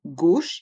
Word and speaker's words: gauche: Et dans le mot gauche, il y a le son O avec les voyelles A et U.